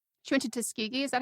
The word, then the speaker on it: Tuskegee: Oh, she went to Tuskegee.